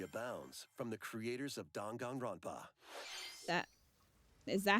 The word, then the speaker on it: Danganronpa: A dark fantasy mystery abounds from the creators of Danganronpa. Is that how that's pronounced?